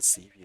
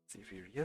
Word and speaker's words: Xaverius: About the Xavier you mentioned. Xaverius, citizen, or Lucius Septimus Sibelius, not Xavier. Your pronunciation is most strange.